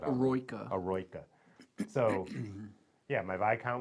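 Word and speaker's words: Eroica: So is that how you pronounce it? I've never heard it said. Aroika.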